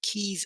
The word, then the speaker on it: Quays: Then on Friday Night Fight, we ran Trail of the Blood Serpent and Keys of Harlan. Keys or quays? It's Keys. pronounced keys. It's spelled quays, but yeah, it is actually pronounced keys.